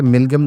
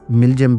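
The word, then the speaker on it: MİLGEM: ख्याल रहे कि मिल्गम दरअसल तुर्क जबान में नेशनल शिप को कहते हैं। गो के इस वर्ड को तुर्किया से बाहर मिल्जियम भी प्रोनाउंस किया जाता है।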